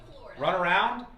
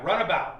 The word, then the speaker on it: Runabout: What did I say? Run around? Yeah, Runabout. Runabout Brewing is the place where I went.